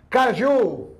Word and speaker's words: caju: Caju é oxítona, termina em U. A sílaba tônica é no U, ó, caju.